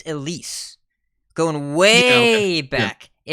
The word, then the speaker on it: Elise: So you said Elysiana. I think you had too many syllables. It's Elise.